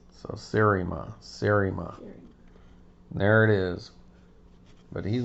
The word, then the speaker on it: Seriema: I pronounce that Serima, but I'm always working on how I say things and I might not have it right. So Serima.